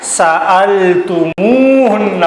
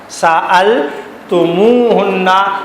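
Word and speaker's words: سألتموهن: تو ایسی صورت میں اس ضمیر اور اس فعل کے درمیان واو کا اضافہ کر کے پڑھا جاتا ہے تاکہ زبان سے اس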